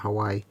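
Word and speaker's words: Hawaiʻi: it like interesting when you've got a name with an actual a glottal apostrophe in the middle of it i don't know yet you know the apostrophe that means it's like a stop like hawaii um and yet it's not generally pronounced by people that aren't from there because we don't tend to have that kind of thing in our you know normal speaking and it always fascinates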